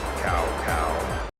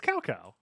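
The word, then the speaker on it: Cao Cao: voice actors it's really mispronounce almost every single character name you must remember this cow cow bro it's calco they really should spend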